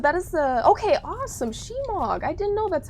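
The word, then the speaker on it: shemagh: Shemog. I didn't know that's how you pronounce it.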